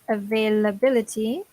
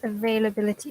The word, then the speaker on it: availability: What does availability mean? Anyone tell us? What does availability mean?